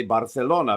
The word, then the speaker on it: Barcelona: Okay, so in Barcelona, and especially in the area of Barcelona, they don't say Barcelona, they say Barcelona, because they have it like a TH list when it comes to the C pronunciation.